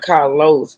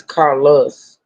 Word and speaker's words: Carlos: His name is not Carlos, it's Carlos.